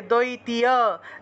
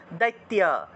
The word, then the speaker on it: দৈত্য: এখানে যে রসিকার আছে দ্বৈতীয় দ্বৈতীয় এভাবে উচ্চারণ করলে হবে না দ্বৈতীয় বললে হবে না একসাথে বলতে হবে দৈত্য দৈত্য এভাবে উচ্চারণটা সবসময় লক্ষ্য রাখবেন উচ্চারণ সবসময় মুখে